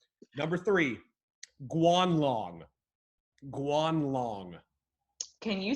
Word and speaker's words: Guanlong: all right number three guanlong guanlong can you spell that sure gu a n l ong kwan long that sounds outrageous enough